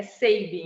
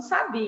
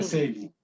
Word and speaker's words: Sabin: A pronúncia correta, então, é Sabin. Eu estou aqui falando Sabin. É Sabin.